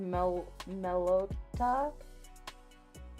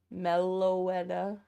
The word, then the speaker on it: Meloetta: Or Melota. I fucking say her name wrong constantly.